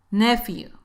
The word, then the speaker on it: nephew: Nephew, nephew. Para pronunciar la PH, en este caso se pronuncia como si fuera una F.